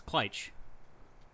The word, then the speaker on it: Kleitch: Josh did a great job of announcing us, saying it correctly, Kleitch although he did have to be Brothers.